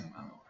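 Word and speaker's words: Montero: Atlanta born artist lil nas eggs from that's pronounced MO and can feature no one at all or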